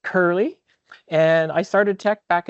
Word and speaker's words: U007D: You'll see me online in any technical online forum as U007D, pronounced Curly.